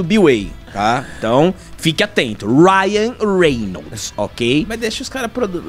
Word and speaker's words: Ryan Reynolds: teve um um tem algumas pessoas que falam wian Reynolds tá que eu já vi galera a gente vai falar do método bway tá então Fique atento Ryan Reynolds Ok mas deixa os Car pronunciarem do jeito